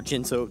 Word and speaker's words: Ginso: Right, certainly a close race so far as we see Hydra move into the Ginso Tree, or Jinso Tree, depending on how you want to pronounce it.